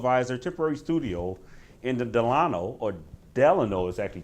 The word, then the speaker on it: Delano: beautiful city of Weiser Tipperary studio in the Delano or Delano exactly call Craig I was wondering about that yeah you you told me that the Delon have to dedicate two hours of learning a